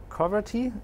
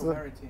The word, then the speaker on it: Coverity: Coverty? That's Coverity. Coverity? Okay, yeah. Okay, that's the way to pronounce it probably.